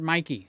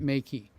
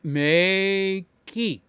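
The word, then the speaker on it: Meike: the correct pronunciation is May key like May the month of key like how you get in your front door okay so this is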